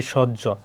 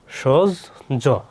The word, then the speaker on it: সহ্য: কি উকার হইছে হ বর্ণের উচ্চারণ কি হয়? জজ। জজ হয়। যেমন কি? সজ্য। সজজ।